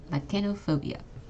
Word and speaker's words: lachanophobia: to the first one the CH also makes a hard C Sound okay lachanophobia okay how about this